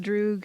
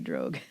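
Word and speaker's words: droog: Also, it is pronounced Drew because if it were Dutch it would be Drogue.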